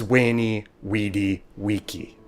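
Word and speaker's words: veni vidi vici: said wing cate and why caesar's phrase was wayney weedy wiki now before you go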